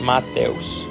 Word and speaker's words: Matos: uh my name uh you pronounce it Matos so it's a little bit not not a sh at the end a lot of people say sh or whatever but it's really just simple just Matos type uh my name is